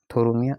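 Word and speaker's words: Phthorimaea: अपर कलेला होता है थोम थोरो मिया अपर कुला होता है पीएस साइलेंट है थोरो मिया अपर कुला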